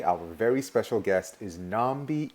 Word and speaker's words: Nambi: my name is pronounced nambi oh nambi oh thank you yeah my name is my apologies okay i've heard it pronounced differently different places but my parents chose to call me nambi and nambi was a